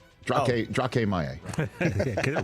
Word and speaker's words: Maye: Drake May is getting 30% of first-team reps. No, he's not. Drake Maye.